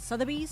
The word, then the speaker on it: Sotheby's: Sotheby's is, that's how you say it, Sotheby's? Yes. Yeah, I got it right.